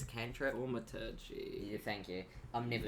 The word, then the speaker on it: thaumaturgy: And he just kind of like, could I also, I have no idea how to pronounce this, Luke. My first, it's a cantrip. Thaumaturgy.